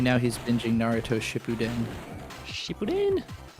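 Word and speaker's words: Shippuden: right now he's binging Naruto Shipuen Shipen. Cartoon Network did that show no favors by pronouncing it wrong. Catch a new episode of Naruto shitin. Naruto Shepudin.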